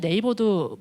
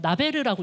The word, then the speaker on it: Naver: 어 한 가지 좀 방향을 잡고 있는 건 아까 그 이안님 발표에서 나왔는데 사실 거지는 네이버도 뭐가 없거든요. 나베르라고 읽기도 해요. 이거를 네이버라고 못 읽고.